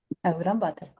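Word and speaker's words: Улаанбаатар: How do you say Ulaanbaatar in the real pronunciation? Can you say that in again? Mongolian. Ulaanbaatar in Mongolian. Ulaanbaatar. Ulaanbaatar.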